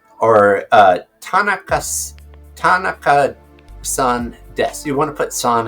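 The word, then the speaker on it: です: s in Japanese they put Des but it's pronounced Des So Tan Des and if you want to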